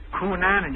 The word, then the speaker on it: Cunanan: rest of the country is pronouncing it improperly. What? Cunanan. You break it off after the seal.